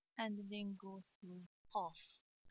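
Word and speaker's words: قاف: Now fill the lines with the fa letter and then go through qaf. Qaf is a big kaf. If you want to pronounce kaf deeply, you will get qaf.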